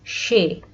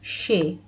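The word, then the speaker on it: সে: this bangla word and this will be pronounced as shay this blue one is the bangla word which should be pronounced as shay this is the informal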